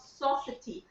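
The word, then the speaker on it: sosatie: And the South Africans have their own form of satay called sausage. I'm not sure if I'm pronouncing that word right. It's Sosataie, and the word comes from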